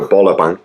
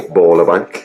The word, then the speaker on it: Bøllebank: I should also add, just very quickly, the English translation of Bøllebank, or Bøllebank, I suppose would be the more appropriate pronunciation, but I don't want